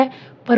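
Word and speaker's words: hope: ह ओ प, होप, ई साइलेंट।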